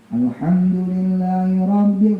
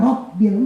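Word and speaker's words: الحمد لله رب: Alhamdulillahirabbil, enggak nasbit, enggak robbil, enggak robbil. Alhamdulillahirabbil, robbil.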